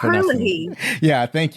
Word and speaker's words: O'Herlihy: Also, we have Dan O'Harth. I'm not sure how to pronounce it. O'Herlihy.